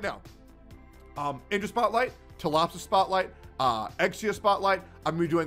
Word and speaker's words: Exia: gratuitous, video tomorrow showcasing my girl Ausai, or Exia, if you want me to say it correctly, but yeah, they're gonna be great.